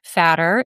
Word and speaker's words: Fatter: So I'm happy to share my website, which is Fatter. It's actually spelled like it sounds.